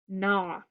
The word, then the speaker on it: gnaw: GN, the G is silent, so it says N.